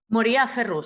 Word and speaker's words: Moriah Ferrus: Tenemos el placer de tener a Moria Ferrus, ¿lo pronuncié bien? Moria Ferrus, sí, Moria Ferrus, ok.